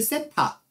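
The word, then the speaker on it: θ: 그때 양의 방향과 이루는 각도를 세타, 요거 세타라고 읽는 거야.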